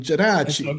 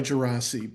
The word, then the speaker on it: Geraci: Well, the proper pronunciation involves handwaving and an Italian jerachi. It's Italian. Okay. You know, uh, I usually go by Gerasi, but I'm comfortable with a wide array of possible options.